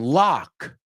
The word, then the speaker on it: lock: The next one, lock. Lock. Ah. Lock rhymes with clock. Rhymes with block.